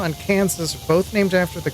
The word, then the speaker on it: Kansas: Arkansas and Kansas are both named after the Katsson Native American tribe. French named the former, so the S is silent. English named the latter, so the S is not silent.